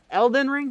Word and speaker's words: Elden Ring: back we're doing something different this time boom Elden ring is that it that's how we pronounce it the game is about 54 hours